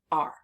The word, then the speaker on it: are: to learn by heart when we look at this word and we hear this word we hear R but the letters are a r e and we haven't